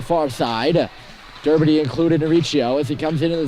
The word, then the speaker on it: Riccio: It's Riccio, not Riccio, as I've been saying.